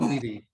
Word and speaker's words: Beatty: is it Betty or Beatty? I think it's Beatty, pronounced Beatty. I think it's Beatty. Beatty, like Warren.